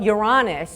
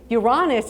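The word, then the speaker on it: Uranus: date randomly I'm this just totally random but you're honest and yes that is how you pronounce it so I just want to make that clear on your honest is signaling the Sun and that favors future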